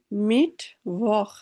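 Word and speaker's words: Mittwoch: মিট ভখ, এই যে ডাব্লু যেহেতু আসছে, ভে এর মতো বলবো, তাই না?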